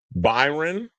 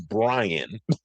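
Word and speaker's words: Bryon: I called him Byron, which I just did. His name is Bryan. B R Y O N. So, I've been calling him I've been saying his name wrong all the time. I was like, why are you spelling your name like that? So, I had a little dyslexic moment and I was calling him Byron, but his name is actually Bryan Noem.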